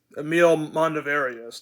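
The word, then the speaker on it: Emile Mondavarius: Um, Emil Mondavarius.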